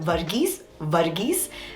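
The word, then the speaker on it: Varghese: that you all know uh it's pronounced as virgis okay they're two spellings of this name one is v-a-r-g-h-e-s-e which is the more common one um and that is pronounced as virgis and since this is v-e-r it's virgis i hope you guys can find the difference so it's vergies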